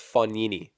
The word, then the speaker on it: Fognini: everyone gets really mad when I say fun nini or Fognini I said Fognini already I think but it's fun nini so right dump overs